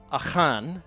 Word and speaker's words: Achan: So my presentation is titled Chosen One or Traitor, Jonah, Achan, is how you say his name in Hebrew, and not Achan, Achan, and narrative analogy in the Hebrew Bible.